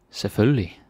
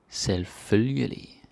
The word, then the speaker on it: selvfølgelig: Yeah, there's a difference here. I'm sure you noticed, eh? Because like, selvfølgelig, and then selvfølgelig. The slow way, we almost never say that in real life, but I have to tell you as a teacher, right? Just know that there's a difference. In real life, we speak pretty fast. Selvfølgelig. Kind of like that. Alright.